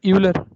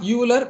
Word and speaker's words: Euler: Sir, Euler. Sir, it should follow the Euler equation. It is not Euler. Please, having studied in NIT, you should say Euler.